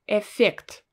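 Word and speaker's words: эффект: is effect effect effect so you can notice as well that i don't really say this i don't pronounce it twice i don't say f effect well no we don't speak like this it mostly sounds like a one letter f but pronounced really long so effect do you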